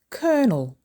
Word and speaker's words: colonel: Don't say colonel, say colonel. Colonel. Colonel is 2 syllables with the stress on the first syllable.